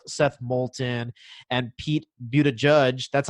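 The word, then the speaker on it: Buttigieg: presidential candidates sorry like seth moulton and pete but a judge that's how you say his name i learned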